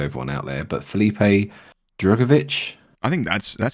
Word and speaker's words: Drugovich: so apologies to everyone out there but felipe drugovich i think that's that sounds chat that sounds good yeah tick yeah it's it's good drugovich yeah yeah we'll do that we'll go uh